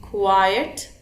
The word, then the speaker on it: quiet: Keep quiet, this one. Pronunciation में भी difference है. This is quiet, quiet, quite, quite, quiet. Alright, this is important to understand.